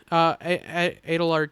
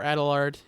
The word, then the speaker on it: Adelard: Yeah, Adelard Cotton, or Adelard, either one's fine.